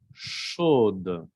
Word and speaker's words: chaude: Chaud, chaude. Aquí también en femenino cambia la pronunciación, se escucha la D.